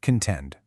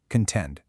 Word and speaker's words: contend: Well, meet our star word of the day, contend. Listen to the pronunciation there. Contend. The stress is solidly on that second syllable.